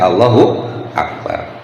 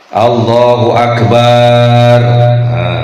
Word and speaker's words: Allahu akbar: poanya harus membacanya dengan Allahu akbar juga jangan dipanjangin la Allahu akbar ahah enggak boleh ya artinya jadi berubah karena kalau Allahu akbar Allah yang Maha Besar kalau bnya dipanjangin Allahu Akbar itu Allah yang kayak